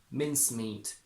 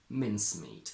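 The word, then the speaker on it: mincemeat: hear the second word pronounced with its primary stress on the first syllable anyway making the two words exactly the same mince meat mince meat so you will only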